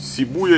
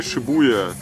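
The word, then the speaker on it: 渋谷: Да, он говорит, оба варианта нормально, поэтому вопрос с произношением снят, говорите как удобно.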